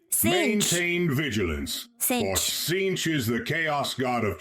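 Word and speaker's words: Tzeentch: It is pronounced as Cinch. Maintain vigilance for Cinch is the chaos god of change, manipulation, and deceit.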